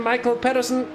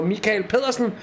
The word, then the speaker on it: Mikael Pedersen: Matthias de Tisch and Michael Pedersen, or Mikael Pedersen, if we're gonna pronounce it correctly.